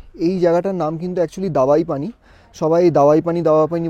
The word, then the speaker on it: দাবাইপানি: হচ্ছে 1200 টাকা তো এই জায়গাটার নাম কিন্তু একচুয়ালি দাবাই পানি মানে ডি এ বি এ আই কিন্তু বেশিরভাগ মানুষ এটাকে প্রোনাউন্স করে দাওয়াই পানি বলে মানে ডব্লিউ দেয় ডি এ ডব্লিউ এ আই তো তোমাদের দেখাচ্ছি চলো